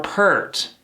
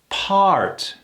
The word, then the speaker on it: part: Is it part or pert? I love being a part of this team. Sounds off, doesn't it? This one, we pronounce part.